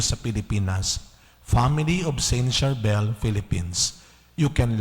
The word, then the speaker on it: Charbel: C yon ang ang banggit pa rin ay Sharbel pero sa mga English speaking country wow kasama